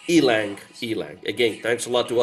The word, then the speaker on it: ylang: I know it's spelled Y-L, but it's pronounced ylang.